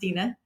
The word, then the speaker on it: Deanna: It's pronounced Dina.